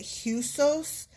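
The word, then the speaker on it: *h₂éwsōs: Okay, I'm going to try to say it. Huos, but here's how it's spelled. Look, I'm just going to show you. It's asterisk capital H sub2 E WS a really strange Os.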